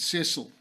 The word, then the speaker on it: Cecil: lot of people was Lord Richard Cecil, or Cecil, yes, as I believe it's correctly pronounced, who was the Marquess